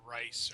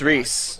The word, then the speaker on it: Reese: and you guys are on your way to Reese, or Rice, or however you pronounce it. You made it. No, I didn't. Magic the Gathering. Maybe. It's Reese. I put it on a name. It's Reese.